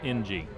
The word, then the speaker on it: Ng: It is the letter N and the letter G, and it's pronounced NG.